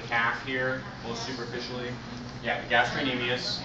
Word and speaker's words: gastrocnemius: here both superficially yeah gastrocnemius right you can pronounce the C it's in there gastrocnemius but correct pronunciation is without the C underneath um the underneath